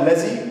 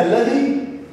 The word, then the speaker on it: الذي: هنا بقى في كلمة الذي، خد بالك بقى، اللام تنطق ولكن لا تكتب. اللام تنطق ولكن ليه؟ لا تكتب.